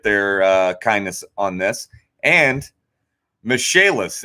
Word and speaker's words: Michaelis: Michaelis, as spelled like Michael is, pronounced Michaelis.